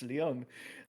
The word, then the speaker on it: Lyon: France that I'm sorry most people mispronounce it's Leon um sorry about that um